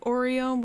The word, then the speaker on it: Ario: You hand Oreo the extract and explain that your comrade is now bedridden because of it. Yeah, it's kind of pronounced like Oreo, but spelled Ario.